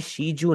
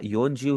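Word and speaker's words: 四十: जैसे 40, 40 को आप कभी भी शी जू नहीं कह सकते। 40 को आपने हमेशा योन जू ही कहना है।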